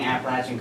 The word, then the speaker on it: Appalachia: It's pronounced Appalachia, Not not Appalachia.